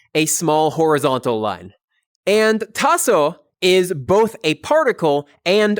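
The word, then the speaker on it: taso: Lee in a sentence then we have tassel t a s o it's drawn with one vertical line and then on the left side a small horizontal line and tasso is both a particle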